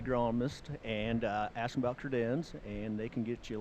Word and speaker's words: Credenz: Pronounce the name so that I don't say it wrong. Credenz. Credenz.